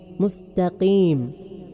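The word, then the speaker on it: مستقيم: മുസ്തഖീം ഇവിടെയുള്ള ഹർഫ് ഖാഫാണ്, മുസ്തഖീം. ഇവിടെ ഖാഫിൻ്റെയും കാഫിൻ്റെയും ഇടയിലുള്ള ഉച്ചാരണമായി ഒരാൾ ഉച്ചരിച്ചു, എന്നാൽ അത് സ്വഹീഹാകും, എങ്കിലും അത് കറാഹത്താണ്. തനിച്ച കാഫായി ഇഹ്ദിനസ് സിറാത്തൽ മുസ്തഖീം, മുസ്തഖീം എന്ന് കാഫായിട്ട് ഉച്ചരിച്ചാൽ ആ പാരായണം സ്വഹീഹാവുകയില്ല. ഇനി മുമ്പ് പറഞ്ഞ കാര്യങ്ങളെല്ലാം ചുരുക്കി പറയാം.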